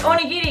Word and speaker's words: onigiri: today we will be opening up an onigiri. It is from Japan, and it's pronounced O-ni-gi-ri.